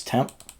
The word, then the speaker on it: tmp: related to the kernel temp is or TMP pronounce temp is a file system